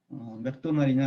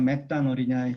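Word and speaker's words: McDonald's: 저는 지금 한국말로 하니까 맥도날이라 그랬지 영어로 해가지고 맥도날이라 그러면 잘 못 알아들을 수도 있습니다. 그게 이제 차이죠. 맥도날이냐 맥다널이냐의 차이인데 저도 여기 와서 한국에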